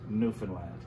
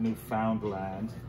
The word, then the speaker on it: Newfoundland: is a beer and is pronounced newfoundland not newfoundland or new finland newfoundland is the oldest